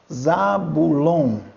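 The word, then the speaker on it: Ζαβουλών: Mas eu estou lendo aqui um ômicron com um Y. Não seria Zabulon? Não. Toda vez que houver um encontro ditongal de ômicron com o Y, você nunca vai ler ou oi.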